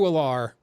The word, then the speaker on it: Allar: I think Drew Allar, or is it Aller? I don't know how it's pronounced. But it's Aller.